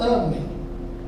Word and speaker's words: amem: Amem paroxítona, que a sinaporte tá lá na primeira. Amém oxítona porque tá na última.